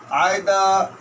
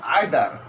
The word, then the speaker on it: either: Each, every, either, neither, etc. There are 2 types of pronunciation. British pronunciation either, American either. British either, American either.